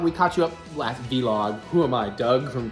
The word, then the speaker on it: vlog: caught you up last v-log who am I Doug from Channel awesome why does he still call them v-logs how does he not know it's pronounced Vlog maybe he just likes